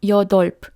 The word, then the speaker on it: 여덟: Non, 여덟, d'accord? ㄼ est un double patchim et ㅂ n'est pas prononcé.